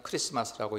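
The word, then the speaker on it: Xmas: 헬라에 그래서 저렇게 우리가 그냥 볼 때 마라고 쓰여진 거 같은게로 읽으면 안 되고 그냥 크리스마스라고 읽으셔야 맞습니다 모르는 사람이야 그렇게 읽더라도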